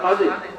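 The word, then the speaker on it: خضر: আমরা কিছু মানুষ বুঝি শুদ্ধ উচ্চারণ খাজির, খাজির আলাইহিস সালাম বসা।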